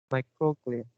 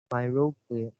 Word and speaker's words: microglia: the last third words, this is pronounced, wait a minute, microglia. You missed the k sound. You Oh, pronounce myroglia.